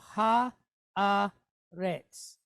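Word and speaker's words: הארץ: So Ha, A, Retz. All right? So we have Bekol Haaretz.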